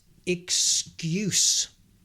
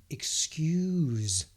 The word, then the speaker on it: excuse: Next, excuse, but also excuse. Close. Excuse, more with a Z, S and Z.